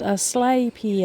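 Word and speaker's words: Asclepias: root the asaps as Claus tuberosa and it's pronounced a slay Pia does so I've been saying that wrong it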